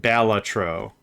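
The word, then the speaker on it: Balatro: Uh there's I've heard of like four or five ways to pronounce it. This is how I pronounce it. Batro. uh because there's not two vowels and the placement whatever whatever uh Bellatro is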